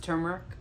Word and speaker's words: turmeric: you guys find out that turmeric is actually pronounced turmeric turmer by the way if you don't know